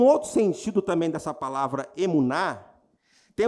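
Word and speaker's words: emunah: A palavra fé, no hebraico, se chama emuná. Eu não sei se a pronúncia é essa, mas estou lendo aqui, emuná, E-M-U-N-A-H.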